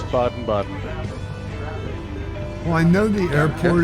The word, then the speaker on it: Baden-Baden: it's pronounced Baden-Baden. Yeah, I think so. It's Baden-Baden.